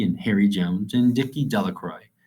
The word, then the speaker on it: Delacroix: harry jones and dicky delacroix the villagers pronounced this name de la croix eventually made a great